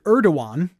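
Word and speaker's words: Erdoğan: Erdogan, that's how that's pronounced.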